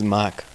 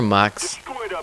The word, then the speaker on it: Mox: Hey everybody, this is Mock, or Mox, pronounce the X if you want, it doesn't matter to me.